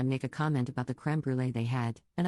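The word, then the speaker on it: crème brûlée: a comment about the creme brulee they had, and I pronounce it in French because it's a French word, and I'm French.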